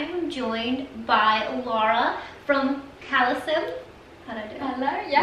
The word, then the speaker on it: Calecim: It's Leah with Skin Beautiful Rx, and today I am joined by Laura from Calecim.